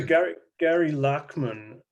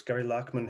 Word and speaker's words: Gary Lachman: Gary Lachman, I think that's how you pronounce his name. It's Gary Lachman, who was a founding member of Blondie, now writes about the occult.